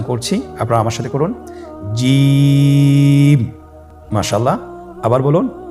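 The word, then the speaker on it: جيم: আপনারা আমার সাথে করুন জিম মাশাল্লাহ আবার বলুন জি আপনারা চেষ্টা করুন হয়ে যাবে এর মাখরাজ হলো জিহ্বার মধ্যখান তার বরাবর উপরের তালুর সঙ্গে লাগিয়ে উচ্চারিত হয় আপনারা পিকচারে ছবিতে দেখতে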